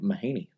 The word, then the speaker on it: Mahanay: Mahanay. Mahanay. Interesting. This whole time, I've been saying it Mahanay. Mahanay. Yeah, it's normal. I'm used to it at this point. Yeah, full name Mahanay.